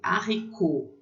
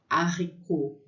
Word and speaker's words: haricot: Então, lê haricot, haricot, feijão. Esse T é mudo no final, tá?